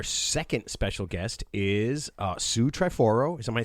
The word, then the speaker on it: Sue Triforo: Our second special guest is uh Sue Triforo.